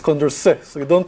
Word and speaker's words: Condorcet: are going to say Condorcet in the next 20 minutes. Don't say Condorcet. It's Condorcet, so you don't pronounce the T. Okay, it's a French name, so the T at the end is silent.